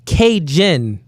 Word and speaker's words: K-Jin: He says, pronounce K-Jin, big brother.